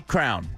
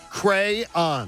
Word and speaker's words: crayon: I say crown. As you guys know, I pronounce a couple words peculiar. Incorrectly. And names. Incorrectly. No, crown's right. Crayon. Crayon, you're a tryhard.